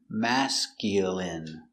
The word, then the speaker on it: masculine: Pronunciation, masculine. Mask. Mask. Mask. Mascule. Mascule. Mascule. Mascule. Masculine. Masculine. Masculine. Masculine. Stress on the first syllable.